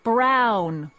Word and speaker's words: Brown: bill to a tee that's Emmett Brown rhymes with clown which I'm beginning to